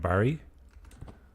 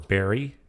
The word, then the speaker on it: Barrie: I'm up around Barrie. or Berry if you're Canadian. That's kind of how they pronounce it.